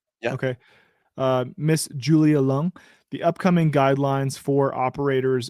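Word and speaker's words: Leung: Officer Miss Julia uh is that luang how do you pronounce that it sounds like lung yeah okay uh Miss Julia lung the upcoming guidelines for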